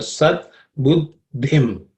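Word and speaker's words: सद्बुद्धिम्: So the second letter in that compound consonant is aspirated one, just the same as dhana. That the is the same the here. Fourth letter in the third class of sounds. So Sat Buddhim is the way to pronounce it.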